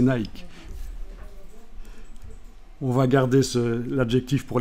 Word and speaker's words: Nike: nicke Nike savez qu' en principe ça se prononce nické parce que ça c'est une desse de l'Antiquité la DESS Nick mais bon comme c'est pas très bien vu pour l'instant notre époque on va prononcer Nike on va garder l'adjectif